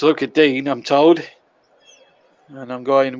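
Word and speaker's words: Lucas Digne: look at dean is the correct pronunciation i'm told although some commentators still call him look at dingy but it's look at dean i'm told and i'm going with the perception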